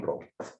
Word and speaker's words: Rowe: Se escribe Rowe, bueno, como es inglés, es John Rowe, ¿ya?